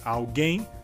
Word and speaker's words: alguém: E a diferença seria que, em espanhol, a palavra alguien, a sua sílaba mais forte seria al, e em português, na palavra alguém, a sílaba mais forte seria gen.